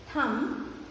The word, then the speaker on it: thumb: See, when you say the word comb, thumb and climb, the letter B is silent.